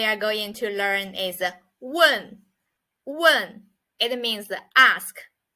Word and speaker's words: 问: next word we are going to learn is one one it means the ask so it's a